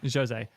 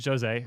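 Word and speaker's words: José: The correct pronunciation? Jose. Jose. Thank you so much, Jose, for coming by and doing this awesome interview.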